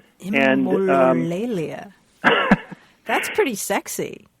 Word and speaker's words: Embololalia: before, and I'm not entirely sure how to pronounce it, but I'll give it a shot. It's Embololalia. Embololalia.